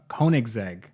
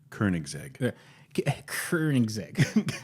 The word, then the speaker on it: Koenigsegg: starts talking about the Koenigsegg record attempt I think it's pronounced kerning zig zag you have to say it with it with an R like you just cashed